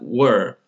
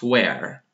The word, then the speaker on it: were: Were, not where. Okay, let's clear that one out. Okay, before we start, let's clear that one out. The problem with the pronunciation is occurring so much. So when you say were, where, were, where, quite different words. So don't say where and you mean the second verb of be.